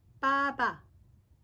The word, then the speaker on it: 빠바: 보통 파리바게뜨라고 빠라고 발음을 하는 경우가 많습니다. 그래서 이제 줄임말이 될 경우에는 실제로 말하는 발음으로 이제 말을 하는 경우가 많기 때문에 파바라고 하는 사람은 별로 없는 것 같고 이제 빠바라고 하는 것 같아요.